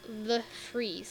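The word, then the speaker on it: de Vries: And DeVries, I've been told that his name is pronounced The Freeze, like the freezer.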